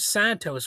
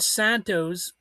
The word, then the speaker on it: Santos: But anyway, George Santos, he Santos, sorry, I pronounced it like the word Mentos, but uh he's a